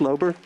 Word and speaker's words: Lauber: him thank you sir it's pronounced lobe ER and practically every municipality